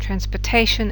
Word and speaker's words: transportation: that takes the stress and transportation it's Tay that takes the stress and the other three